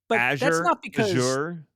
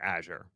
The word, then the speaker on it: Azure: spoken to so many different Microsoft employees that pronounce it different I've heard yeah AZ sure that's not because they're right they do it to vex me it I have never seen an official pronunciation guide for Azure the correct answer is clearly Azu well and